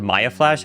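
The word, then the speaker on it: Mayflash: I just called it I always pronounce it my flash actually, but there is no second A, but anyways, it's M A Y flash.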